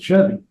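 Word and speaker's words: Sheavy: S-H, basically S heavy. S-H-E-A-V-Y. And so it sounds, I'm assuming, I actually haven't heard them say it. So I don't really know how you're supposed to pronounce it, but I would assume you pronounce it Chevy.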